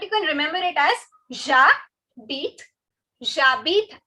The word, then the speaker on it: j'habite: to do is say j'habite à and then your city's name. Okay, first things first. This is j'habite. Again, the H is silent, the E is silent.